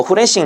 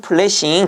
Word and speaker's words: 플래싱: 뭐 플래싱 작업 또는 뭐 후레싱 작업 이렇게 얘기를 하는데 정확한 영어 발음은 플래싱 작업이 되겠죠.